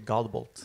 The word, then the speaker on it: Godbolt: Yeah, and then we have Lars Godbolt, or how do you pronounce it? It's actually Godbolt.